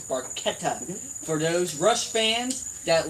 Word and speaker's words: Barchetta: it right is that Barchetta is barqueta for those Rush fans